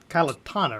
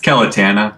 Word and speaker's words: Calitana: because we got this colony called Kalatana, right? Am I pronouncing that right? It's Calitana. Calitana, Yeah.